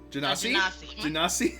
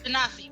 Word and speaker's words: genasi: Janasi? Genasi, there we go. Oof. I was like, I don't know how to pronounce it.